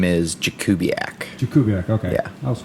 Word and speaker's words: Jakubiak: My last name is Jakubiak.